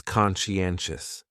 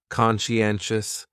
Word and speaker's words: conscientious: So, conscientious has 4 syllables, and the stress is on that third syllable, N. Conscientious, conscientious. That second syllable is what really confuses people, because that PSI almost sounds like you're saying she.